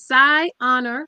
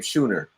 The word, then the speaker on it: Psi Honor: So it's literally how it's spelled. It's Psi Honor Devotion. Psi Honor, all right. Yes, and we have doulas in Connecticut. We have doulas in Massachusetts, Rhode Island, and several other states across the country. You know what's crazy? I've been connected with you on Facebook for years, and I've been pronouncing your name Schooner.